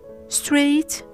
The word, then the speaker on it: straight: The question is, when is the GH silent? As you might have noticed, after the diphthong sound A and I, as well as after the diphthong sound O or the vowel sound O.